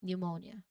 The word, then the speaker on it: pneumonia: start of a word, that P is almost certainly silent. Okay, this pattern is often a clue to the words Greek origin and will help you pronounce these specific words correctly.